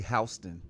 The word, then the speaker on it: Houston: In New York, they say Houston. Houston. Yeah. Houston. It's spelled the same way.